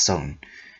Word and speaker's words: sun: Footnote, like the shaku, the sun, pronounced son, is another Japanese unit of measurement.